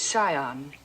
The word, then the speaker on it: scion: The word is scion. The C is silent.